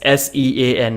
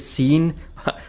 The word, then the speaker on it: Sean: not make any sense s-e-a-n how is that Sean isn't it seen ninety percent of the Indians would pronounce it scene like there are many